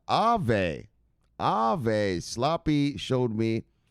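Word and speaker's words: Aave: go look look sloppy eve ha ha just kidding brother this is actually pronounced ave ave sloppy showed me it's pronounced ave it's a finnish word it means ghost or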